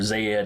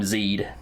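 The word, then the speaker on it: Zd: some reason even though more corporeal species would probably pronounce it z zeed or zed or something like that for our purposes we're gonna call him zeed uh and he tells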